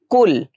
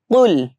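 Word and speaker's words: قُلْ: কুল কফলাম পেশ কুল এটা কিন্তু আমাদের গলার ভিতর থেকে উচ্চারণ করতে হবে কুল অনেকে বলে থাকি কুল এখানে হবে কুল আমার সাথে একটু উচ্চারণ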